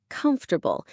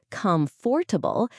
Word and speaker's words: comfortable: Some people try to pronounce every letter like comfortable, but native speakers actually say it more like comfortable. The a in the second syllable is actually a schwa sound, which is a neutral vowel sound.